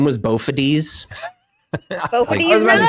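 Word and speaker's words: Bophades: Uh, he made a character whose name I did not know how to pronounce until the stream. Uh, I thought it was Bofades.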